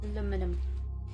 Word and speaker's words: aluminum: Aluminum. Aluminum. Aluminium. Aluminum. I like how Americans and British people have a different pronunciation for essentially the same thing.